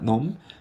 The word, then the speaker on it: numb: numb, 나름 B가 묵음이에요.